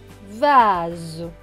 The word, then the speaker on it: vase: se prononcer s mais le s est entre deux voyelles le a et le e comme il entre deux